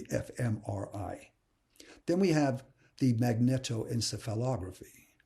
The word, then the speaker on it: magnetoencephalography: video or the fmri then we have the magnetoencephalography it's actually pronounced magneto encephalography it's a real mouthful usually